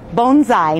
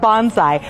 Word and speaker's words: bonsai: of the Inland Empire bonai Society now it's pronounced bonai not Bonsai bonai means a plant in a small dish